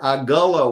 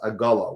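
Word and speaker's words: עֲגָלָה: it you can hear aala wagon EGA calf they both are actually spelled exactly the same way it's only that the vowels are different and therefore produce a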